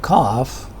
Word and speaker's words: cough: So therefore, in the word cough, we are referring to f sounds. So this UGH is actually f sound.